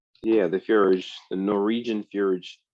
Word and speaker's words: fjord: Yeah, the fjord, the Norwegian fjord. So fjord. 2 syllables. J is silent.